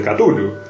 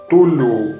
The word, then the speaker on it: Cthulhu: Tulu, o Cthulhu, bueno, en realidad hay muchas formas de pronunciar el nombre de esta monstruosidad, seguramente la más famosa de todo el enorme bestiario lovecraftiano, y aunque parezca raro, cualquier pronunciación puede ser correcta, ya que el mismo Lovecraft explicó que la forma de pronunciar este nombre es prácticamente imposible para un ser humano.